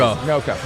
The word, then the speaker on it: NOCO: know the people at is it Noco? How do you say that? I've heard it 2 different ways. Noco. Yeah. Great.